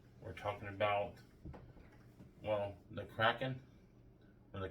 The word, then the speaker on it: kraken: Today on Let's Talk, we're talking about, well, the kraken or the kraken or whatever. throw in the comments. Yeah. Well, it's spelled like, kraken, but it's the kraken.